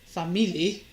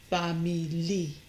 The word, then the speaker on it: famili: But when the word is used without the final o, famili, the stress remains on the e, famili.